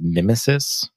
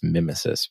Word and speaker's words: Mimesis: So if you're familiar with projects like Faker, or I believe it's pronounced Mimesis, maybe Mimesis. I think it's Mimesis, but like Nemesis, but Mimesis.